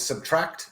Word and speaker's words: SBTRKT: um it's actually a an artist called subtract which is spelled SBT rkt and the tune is